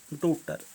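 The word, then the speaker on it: daughter: एक रेखा खींच लेंगे डी ए यू जी एच टी आर डॉटर इसमें क्या साइलेंट होगा जी तो जी के नीचे एक रेखा खींच जी और एच दोनों ही साइलेंट है इसमें जी के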